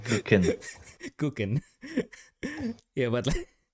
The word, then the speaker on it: Kuchen: the German teachers usually use is the word kuchen, Okay. and then especially as an Indonesian, like the way like German alphabet is pronounced pretty similar.